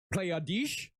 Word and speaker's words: Pleiades: good pronunciation on that yeah playa dis that's how you i took german for